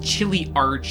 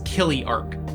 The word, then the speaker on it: Chiliarch: as many of you pointed out is not pronounced chiley Arch it's Killy Arc subtle isn't it this class is basically L